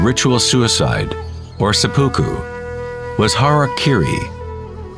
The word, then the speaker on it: harakiri: In the samurai tradition, one form of ritual suicide, or seppuku, was harakiri, was often mispronounced as harikari.